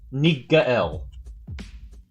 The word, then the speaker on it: Nigael: It's pronounced, just so I don't mess it up. It's Nigael. Am I ugly to you?